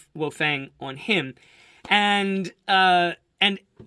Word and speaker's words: Wang: Asian figure and it's Professor Wang or Professor Wong if you if you pronounce it properly and I think it's